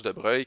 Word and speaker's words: Broglie: monsieur de breuil donc cette éclipse de broglie mais ça se prononce de breuil qui a amené cette